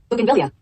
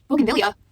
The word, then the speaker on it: bougainvillea: Bougainvillea. Bougainvillea.